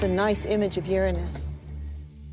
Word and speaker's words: Uranus: pronounced the planets name Uranus which is very likely closer to the original pronunciation of the name of the God after Lumina was named